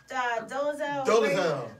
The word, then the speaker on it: Dolezal: How do you pronounce her name? Dolezal.